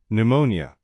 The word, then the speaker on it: pneumonia: 2 P pneumonia. The P is silent. It sounds like pneumonia.